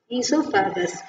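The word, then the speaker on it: oesophagus: எப்படி சொல்லணும் இசோ ஓஇஎஸ்ஓ இசோ பிஹெச்ஏ ஜியூஎஸ் கஸ் ஈசோஃபேகஸ் through the fairings okay so பக்கல் கேவிட்லேருந்து சாப்பாடு எங்கே போவோம் ஃபுட் பைப்பில் போவோம் ஃபுட் பைப் பேர் என்ன இது ஈசோஃபேகஸ் அங்கேருந்து ஃபேரிங்ஸ் ஃபேரிங்ஸ் வழியாக அதுக்கு போயிடும் ஓகே ஸோ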